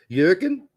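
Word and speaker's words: Jürgen: do some chunks on you're gonna say Jurgen Kinsman say his name properly juren yeah thank you I appreciate that it's much better juren Clansman um yeah so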